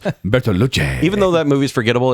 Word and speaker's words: Bertolucci: It's pronounced Bertolucci.